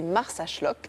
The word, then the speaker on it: Marsaxlokk: Et puis, ma petite carte postale de l'été, c'est Marsaxlokk. Alors, c'est un nom impossible à écrire, mais ça se prononce comme ça. On sait mieux, pour une fois, le prononcer que de l'écrire.